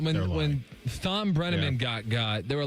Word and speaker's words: Thom: people saying that when Thom Brenneman got, there were a lot of people. Did you say Thom Brenneman? He keeps the H. So I know he keeps the H, but doesn't pronounce the H.